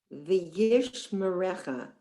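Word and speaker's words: וישמרך: V'yishmerecha. So we have the first syllable, v'yish, that's a silent shva, me-recha.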